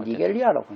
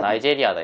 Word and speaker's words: Nigeria: 난 니겔리아라고 했네. 니겔리아? 니겔리아는 아닌 것 같은데. 뭐 발음 나온 대로 하면 니겔리아가 돼. 그건 그렇긴 한데요. 그러니까. 아, 나이제리아다 이거. 나이제리아라고? 그 한국에서는. 아, 그럼. 나이제리아. 영어에서는 모르겠는데 일단 한국에서는 나이제리아.